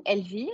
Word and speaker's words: Elvire: um so uh I'm LV huh so this is the way you should pronounce it in French and I have 30